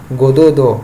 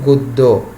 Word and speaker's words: গদ্য: যদি আমি হসন্তটা না দিলাম তো এটা হতো গোদোদ, এটা হতো বনো না, এটা হতো সোজোজা, তাহলে উচ্চারণটা হচ্ছে না। গদ্য উচ্চারণটাকে বোঝানোর জন্য আমি বলছি গদ্য বন্য, তাহলে এই হসন্তটা দেওয়া মানে এটা একক উচ্চারণ।